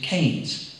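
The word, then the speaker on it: Keynes: But I said, she said, I know it's spelled Kings, K E Y N E S, but here in the village, we prefer to pronounce it Kes.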